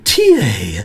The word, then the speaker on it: TIE: standard biometric identity card known as the tiie it's called the TA it rhymes with paa sweetie ban Pony dancing this card is the best